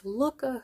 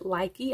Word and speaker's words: Lykke: sweet review of these Lykke hooks. I think a lot of us pronounce it Lykke, I know I was, but I'm pretty sure the correct pronunciation is Lykke.